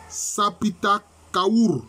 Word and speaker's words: Sapita Kaour: Alors, pour pouvoir prononcer ce mot de pouvoir, il faut intercaler simplement, je peux dire, des voyelles. Donc, ce sera Sapita Kaour. Sapita Kaour.